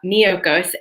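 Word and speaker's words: Miyoko's: there's this company called miyokos so that's spelled m as in mary i y o k o so almost like mykonos but miyokos and they have sliced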